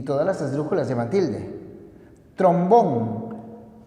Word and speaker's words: trombón: las esdrújulas llevan tilde trombón lleva tilde porque se trata de una palabra aguda terminada en n álbum es palabra